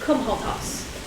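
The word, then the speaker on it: Comhaltas: No, what you've written is "come hold toss." That's what I heard. C-O-M. Not C-U-N. C-O-M-H-A-L-T-A-S.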